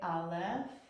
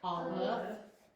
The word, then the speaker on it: aleph: But Aleph is a silent letter. Okay, it only makes a sound when it has vowels. And so this Aleph is silent, so I can't ask you to make the sound with me until I teach you a vowel.